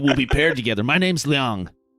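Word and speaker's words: Liang: thanks maybe maybe be paired together my name's leang l no leang Leon no l Le Leong Leong Leong right yeah spell it l i a n g okay okay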